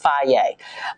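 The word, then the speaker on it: Fage: i eat fry yogurt f-a-g-e it's pronounced faye and i love it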